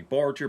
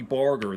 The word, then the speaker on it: Barger: my favorite people Sonny Sonny Barger some people pronounce his name Sonny Barger but it's Sonny Barger I think he's still alive is living in